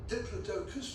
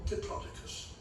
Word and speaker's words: Diplodocus: There are two ways of pronouncing its scientific name. It's either Diplodocus or Diplodocus.